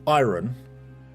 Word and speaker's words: iron: Iron. So it it's it's like it's pronounced as if it's spelled without the R in it. But whenever I hear the word iron, um that's not is